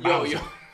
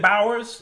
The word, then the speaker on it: Bowers: You know, that's kind almost sound like Bowser. When I was in school, that's how they used to. That's how they used to pronounce my name. Bowers.